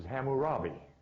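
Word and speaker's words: Hammurabi: ham but is Cam whose name is not cam but is which is pronounced in most literatures as hamurabi this is three names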